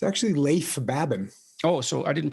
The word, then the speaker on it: Babin: dichotomy of leadership with fellow retired seal leif baben did i pronounce that right it's actually leif babin oh so i didn't pronounce it right at all leif babin he hosts a weekly podcast with brazilian jiu